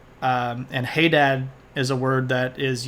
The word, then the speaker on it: Hadad: Linguistics discussion uh yeah I would put the emphasis on the on the first syllable adad as well um the seric and ugaritic and Hebrew version of that is hey dad with an H in the front of it uh adding that breathy element um and hey Dad